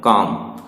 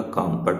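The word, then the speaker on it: calm: काम, इसमें silent letter में ये एल है, तो यही आंसर हो जाएगा। काम पढ़ने की जरूरत ही नहीं है।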